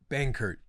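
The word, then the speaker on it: Benkert: out Kurt Bankert.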